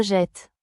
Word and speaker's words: jette: On entend que la double consonne change la prononciation. Ça ouvre le son du e. Voici un exemple. Le verbe jeter. Je jette tu jettes.